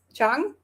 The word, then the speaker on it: Trang: yeah, she's also like it's spelled Trang, but it's pronounced Chang, and the surname they say more like Nguyen, I think.